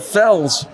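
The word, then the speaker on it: Félix: they heard him and you don't you don't pronounce Felix Felix in Portuguese you pronounce it Fels well my last name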